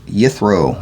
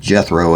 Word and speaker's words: Yithro: And Moshe was shepherding the flock of Yithro, or Jethro as it would probably be pronounced, because the Y is always replaced with a J in English for some reason.